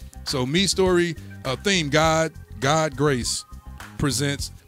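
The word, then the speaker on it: Mistory: me last week and said it is pronounced me story so me story theme God God grace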